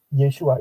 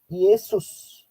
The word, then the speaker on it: Yesua: tapi buat saya begini nama yesua itu namanya yang benar tapi Yesus atau Yesus atau Yesus itu adalah pengucapan yang salah dan kemudian itu diturunkan